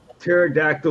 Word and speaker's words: pterodactyl: can't you hear a pterodactyl urinating because i've been dead because the p is silent that's one of the